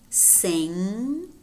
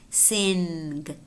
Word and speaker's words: sing: and repeat sing sing it is not sinned it's saying Rainer ringer tongue tongue notice how we have ng combinations belonging to the same syllable and therefore what happens is instead of pronouncing that mmm and the bill we combine the two and we pronounce a nasal sound which is velar okay sing ringer tun